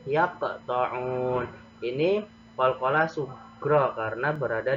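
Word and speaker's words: يَقْطَعُونَ: Maka cara membacanya agak ada pantulannya, seperti ada pantulan. Yaq, ya, yaqta'un.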